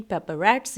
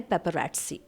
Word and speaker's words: paparazzi: मैं आपके लिए लेकर आई हूं difference between पेप रटस and media ध्यान रहे इसे हम पेपर प्रोनाउंस नहीं करेंगे इसे प्रोनाउंस किया जाता है पेप रटस ठीक है पेपर एटस यह वर्ड बहुत ज्यादा